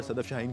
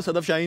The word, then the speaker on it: Sedef Şahin: तरफ से भी और सदफ शाहीन की तरफ से भी। मैंने तो बिल्कुल इसको सदफ शाहीन ही बना दिया, लेकिन ये सैदफ शाहीन है।